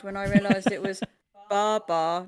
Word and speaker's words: Babar: Well, French author Laurent de Brunhoff, I'm murdering that, I guarantee you, he actually pronounced the name as Babar, not Babar.